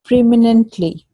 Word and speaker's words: preeminently: It is preeminently, Yeah, Preemine. preeminently. You pronounce it like there's a dash Okay.